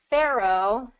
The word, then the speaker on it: pharaoh: okay that worked um pharaoh and cruel cruel okay so Pharaoh does have two syllables to it I'm actually going to